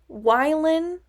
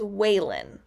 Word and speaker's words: Wylan: which is even worse, pronounced Wylan as Waylon.